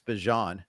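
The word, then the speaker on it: Bijan: I did see this week that he confirmed it's Bjon and that we've been doing it wrong. All right. So like Dijon. All right. Like the like the mustard.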